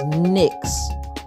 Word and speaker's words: NYX: My lip plumper by NYX NYX is pronounced NYX.